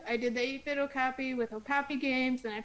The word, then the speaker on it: Kopp: okay I could have my name in it like cop and I also like